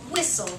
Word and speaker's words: whistle: um how about if I have the word whistle repeat the word whistle whle whistle right and